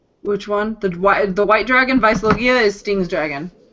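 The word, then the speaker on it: Weisslogia: The white dragon, Vicelogia, is Sting's dragon. It's spelled with a W, but it's German, so it's actually a V.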